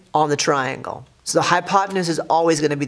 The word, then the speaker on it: hypotenuse: sounds like hippopotamus but it is called the hypotenuse and that is spelled h y p 0 t e in u.s e hypotenuse as how you say it not hippopotamus so the hypotenuse before